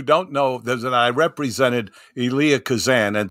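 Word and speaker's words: Elia: but what you don't know there I represented Ilah Kazan and it's pronounced Ilah no one ever pronounces it correctly I say elah oh good no I know most people say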